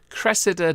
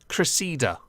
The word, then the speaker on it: Cressida: akkad message to you Cressida dick is pronounced Cressida not Reseda please stop so yeah